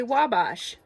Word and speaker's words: Wabash: on here on indiana.gov it says simply say wabash because it's from a french native word and on here